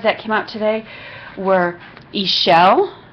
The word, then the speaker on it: Ixchel: the other cards that came out today were Isel it's it's pronounced Isel and the card is Medicine Woman it says